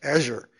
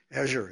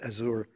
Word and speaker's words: Azure: Now we have to use the French pronunciation or the the the Redmond Washington pronunci it's Azure. Azure is how we say it in Washington not Azour.